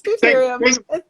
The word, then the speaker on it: deuterium: And I'm like, it's deuterium.